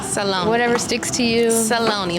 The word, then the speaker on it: Saloni: pronounce your name is Salone or salani it's Salone Salone Salone Salone like balone Salone with a s okay cuz I was